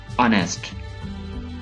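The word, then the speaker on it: honest: ये वर्ड आप पढ़ेंगे ऑनेस्ट, ऑनेस्ट। एच यहां पे साइलेंट है, एच कंप्लीटली साइलेंट है।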